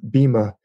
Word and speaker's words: Bhima: Bhim is kind of a Hercules figure, Bhima. It's spelled Bhima, B-H-I-M-A.